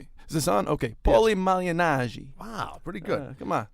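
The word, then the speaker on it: Paulie Malignaggi: Paulie Malignari. Wow, pretty good. Come on. Malignari.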